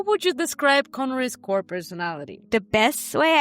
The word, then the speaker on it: Conri: So let's start with Conri.